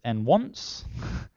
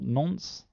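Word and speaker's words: nonce: something like that uh this next word is really designed to be pronounced as n want not nons um uh which is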